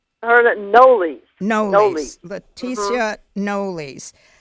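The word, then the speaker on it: Knollys: yes and her last name I heard it noli's Leticia noli's she she was a descendant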